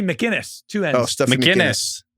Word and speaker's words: McInnis: I'm sure it's not McAnus. Well, it's McAinnis. How would you pronounce it? This is Stuffy McAnus. Sounds right to me. Oh, wait, no, it's two Mackinus. ends. It's Stuffy McInnis.